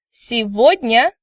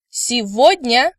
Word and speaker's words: сегодня: Сегодня. Сегодня. Завтра. Завтра. Excellent. Well done. Now please note that word today, сегодня, is pronounced with a V instead of G sound, which was mentioned in supplementary materials in previous lectures.